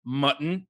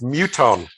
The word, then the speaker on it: Muton: fellow with the handle, Mutton is my friend. Not how it's pronounced. How was it pronounced? Yeah, it's funny. It would be Mutton if it was M-U-T-T, but it's Muton.